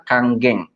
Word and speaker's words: Kangen: itu tulisannya kangen ya emang tulisannya kangen makanya kalau orang yang belum tahu belum lihat edukasinya biasanya memangnya masih kangen Jadi sebenarnya ini dibacanya adalah Kang geng ya Jadi kalau di Jepang itu huruf N itu dibacanya jadi m contohlah dua pembicara hari